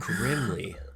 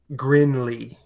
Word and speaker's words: Grindlay: Grimley. No, Grinley. Grinley? Like, Yeah. Like Well, it's spelled Grindlay.